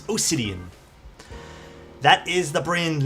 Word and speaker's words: Osidian: And no, it's not Obsidian with a B, it's Osidian.